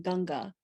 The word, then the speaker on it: Ganga: And to have one's ashes poured into the holy river Ganges, which is pronounced in Indian Ganga, in the city of